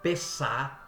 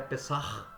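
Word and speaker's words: Pesach: A palavra peçar ou peça como muitos chamam, mas a pronúncia correta é pesar.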